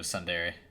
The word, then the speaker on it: tsundere: Dude, she's like definition of tsundere. Tsundere. Yeah, that's how you say it.